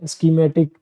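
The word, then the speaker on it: scheme: स्कीमेटिक, यहाँ पे पै का भी भी जाता है, बाकी इसका प्रोनाउंसिएशन मैं आपको बता रहा हूँ, स्केड्यूल होता है।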